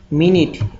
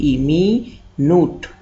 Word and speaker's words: minute: Next মিনিট, MINUTE, মিনিট। ওয়ার্ডটার প্রোনাউন্সিয়েশনটা একটু লক্ষ্য করবেন, MINUTE, মি নুট, উচ্চারণ হচ্ছে মিনিট, কিন্তু ইংলিশ মিনিংয়ে MINUTE,